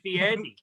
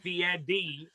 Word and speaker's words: Fieri: It just like Guy Fieri. Apparently it's Fieri, not Fieri.